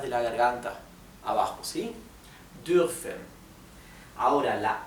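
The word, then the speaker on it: dürfen: Sin embargo, la u con um se pronuncia entre una i y una u. Es un somnido entre medio de los dos, de una i y una u. U. U. Esto sería durfen.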